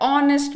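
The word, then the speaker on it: honest: ये spelling, ऑनेस्ट की spelling start तो हो रही है एच से, कंसोनेंट से, लेकिन इसका साउंड ओ का आ रहा है, ऑनेस्ट मैन, इसलिए इसके आगे आएगा एन।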